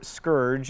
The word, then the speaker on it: scourge: Seemingly monotheistic, feels like the heathens, in this context likely the Native Americans, have been sent as a scourge, or scourge, as it is apparently properly pronounced.